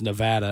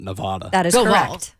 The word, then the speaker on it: Nevada: it's like known zags I learned this past year from Don Davenport that I've been present pronouncing Nevada wrong my entire life right that it's Nevada and not Nevada yeah I don't know